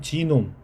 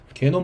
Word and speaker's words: 지놈: 영어로는 지놈. 뭐 우리가 뭐 게놈 프로젝트 뭐 이런 얘기 하잖아요. 근데 저는 지놈으로 발음을 하겠습니다.